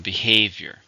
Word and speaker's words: behavior: How many syllables are in behavior? 3, stress on the second syllable.